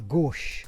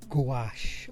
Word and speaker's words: gouache: Well, here we go folks, I will try and pronounce it, but bear in mind I am Scottish. It's a gouache or a gouache or a gouache, I suppose, depending on how you might want to say it.